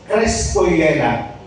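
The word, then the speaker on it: Χριστούγεννα: ay sa English nito ang pronounce nito ay Christogena sa Greek itong g na ito ay y pronounce niyan kaya pag sinabi mong Christmas crestoena yun po ang ibig sabihin yun po ang pronounce doon sa Greek Christmas ibig sabihin Christ birth Hello.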